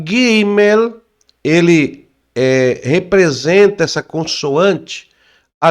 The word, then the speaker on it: Gimel: Então é a letra G, mas você lê como o G do gato, né?